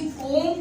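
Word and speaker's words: comb: अब इसको भी कोम पढ़ा जाएगा, कोम नहीं पढ़ा जाएगा। ये गलत प्रोनाउंसिएशन है। बालों में जब कंघी ली जाती है कोम कहते हैं लोग, कोम नहीं प्रोनाउंसिएशन इसकी प्रोनाउंसिएशन क्या है? कोम।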